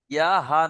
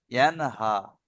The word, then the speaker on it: ينهى: আরাই তাল্লাজি, ইয়া হা, ইয়া হা নয়, আমি বলছি ইয়া নুন জাবার ইয়ান, ইয়ান হা।